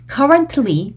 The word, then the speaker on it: currently: 틀리라고 발음하시면 감점 나오는 그런 단어들입니다. fortunately 한다든지 currently 한다든지 그러면 둘 다 감점이에요. 그러니까 fortunately, currently 이런 식으로 T랑 L 사이에서 잠깐 끊어주는 느낌 요 느낌을 연습하셔야 fortunately, currently 뿐만이 아닌 recently,